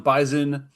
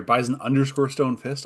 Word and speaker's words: Bison Stonefist: Hi, I am Bisonen. I am sorry, Bison Stonefist. I got to say it right or Kevin gets mad at me.